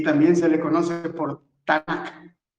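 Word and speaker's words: Tanak: h afara y también se le conoce por tanac t a n a k tanac sí esa es la porción de los profetas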